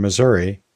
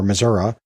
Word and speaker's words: Missouri: I think skeletal muscle tissue is okay for me to say here in Missouri, or Missouri, but I think I'll be better understood in